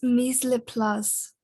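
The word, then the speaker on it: mise en place: It's mise le place. Ah, I got it right after all.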